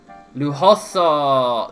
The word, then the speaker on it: lujoso: Wait, yeah, you don't pronounce J's. Lujoso. That's what I was saying. I'm like, wait, you don't pronounce J's in Spanish.